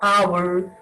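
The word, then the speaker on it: hour: H is a consonant letter, but in many of the words, H is silent, like our, honest, higher, and honorable person.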